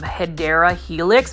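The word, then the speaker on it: Hedera helix: And you know, as far as English ivy, if you are new to the channel, the correct way to say it is um hideera helix.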